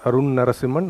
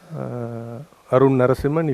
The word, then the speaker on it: Narasimhan: It should appear there as Arunn Narasimhan. There are 2 N's there, A-R-U-N-N, one of them is silent. Arunn Narasimhan, if you search for, it should come.